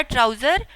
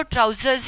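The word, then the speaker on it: trousers: उर्दू में हम आम तौर पे ट्राउज़र बोलते हैं घर में, लेकिन इसकी जो सही प्रोनाउंसिएशन है वो ट्राउज़र्स ही है, एस की साउंड आती है एंड में।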